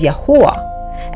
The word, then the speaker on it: Yahuah: The true pronunciation of the Creator's name, the Elohim of Abram, Isaac, and Jacob, is Yahuah, and the true pronunciation of the Messiah's true name is Yahusha.